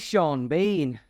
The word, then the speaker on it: Sean Bean: Bean or sha BN but instead it is sha Bean two entirely different pronunciations that have almost the same spelling mading